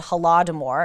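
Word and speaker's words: Holodomor: was a massive man-made famine in Ukraine called haladimore it's spelled h-o-l-o-d-o-m-o-r it was again man-made famine in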